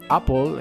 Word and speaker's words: Apple: Epic contra Apple o Apple se pronuncia correctamente creo Apple Apple pues no estaba equivocado creí que se pronunciaba Apple pero veo que se pronuncia Apple Apple es como una O y una e a la vez muy extraño Pero bueno vamos allá